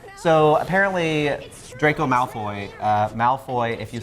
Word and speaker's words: Malfoy: So it's Ma in Cantonese. Ma is like horse, and then Foot is like fortune.